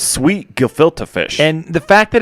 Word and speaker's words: Gefilte: How would you pronounce that? It's Gefilte Fish. Gefilte.